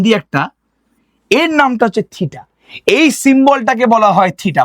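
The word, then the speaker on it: θήτα: এই এঙ্গেলের যে নামটা দিলাম সেই নামটাকে উচ্চারণ করব টি এইচইটি থিটা বলে।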